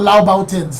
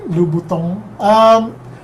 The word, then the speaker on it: Louboutin: Something like, it's not Laubautins lah. It's like Louboutin. I think they call that head over heels. A joke. I would have gone down for a pair of Louboutin.